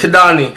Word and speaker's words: Kidani: I say my name is pronounced Kidani. Kidani. Like Kimani.